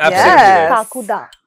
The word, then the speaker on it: Kakuda: सोनाक्षी आदित्य ो ट talk about काकु ड pronounce that correct काकू द correct Bang on sounds like some Bengali name